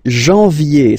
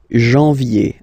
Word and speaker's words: janvier: wow, no, but anyway, janvier, so that's the way to pronounce it, janvier, A-N, en, okay, and then yé, yé, yé, janvier, then comes février, février,